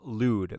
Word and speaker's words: Lude: In addition to that, people are asking about Lude. That's how you pronounce it.